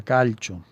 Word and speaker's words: calcio: Y bueno, siendo italiano yo creo que se pronuncia calcio.